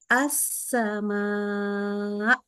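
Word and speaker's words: السماء: ass gitu ya Nah kalau kita wakaf atau berhenti di sini maka bacanya jadi gini assama dinaikin sama ya dikuatin jangan diturunin akhirnya engak kedengaran hamzahnya atau Sain Kalau berhenti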